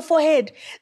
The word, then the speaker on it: forehead: What is a forehead?